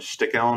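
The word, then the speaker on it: Sticheln: it's been in it's a German game called stick Ellen I believe is how you pronounce it but it's a very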